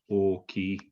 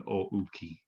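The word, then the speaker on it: おおきい: beginning of the word, this isn't written as OU, this is written as OO, oki, rather than ouki. Yeah, its pronunciation is exactly the same, but there's a few words that start with OO instead of OU.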